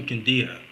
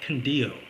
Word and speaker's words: Quindío: Now, when did you start traveling to Quindío? I think you said you call it Quindío. Is that right? Quindío. Quindío. Quindío. Yes, yes. Just want to make sure I'm pronouncing that right.